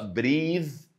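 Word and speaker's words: breathe: في الاخر يبقى افتكرنا نعمل شورت كده فيديو تتنطق بريز وتبقى تبقى فيرب تبقى يتنفس يبقى دي اسمها ايه؟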